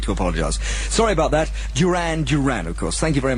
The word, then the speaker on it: Duran Duran: That's a new entry, Duran Duran and another called Planet Earth.